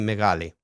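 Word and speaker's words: μεγάλη: Um it should it at least in the south of Greece it's like like meali. Okay. It's paladalized basically. Megali. Okay. Kind of kind of like the G and the Yeah, there are dialects of Greek where it's different. Um but but the sort of quote unquote standard would be megali.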